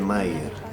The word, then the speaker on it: Meier: Yo soy Mayer. Me dicen Meyer porque se escribe Meyer, pero en realidad soy Mayer, pero si me dicen Mayer no me molesto tampoco.